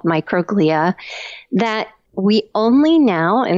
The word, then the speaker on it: microglia: very enigmatic cell in the human brain called microglia that we only now in the past five